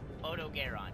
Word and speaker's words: Odogaron: Odogaron.